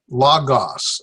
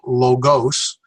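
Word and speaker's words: λόγος: universe world or humankind Lagos now here's where a lot of people will pronounce this as logos funny thing there's a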